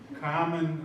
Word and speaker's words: Carmen: Carmen, I'm from Boston, we don't pronounce our R's.